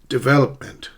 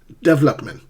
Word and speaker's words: development: Development. Do not pronounce this word as development. Development. Stress the second syllable.